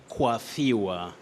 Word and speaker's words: coiffure: Yes, that is a loan word in English. It's a loan word in English. Loan words are words which are borrowed from other languages and used in their original form. But in English pronunciation, sometimes you may find some slight difference from what the French speakers may use. But in this case, in English, you say coiffure.